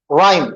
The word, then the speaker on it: rhyme: Next word with silent letter H, how do you pronounce it? Rhyme बोलते, okay। रहाइम तो नहीं देता मुझसे अपने, राइम, ओके।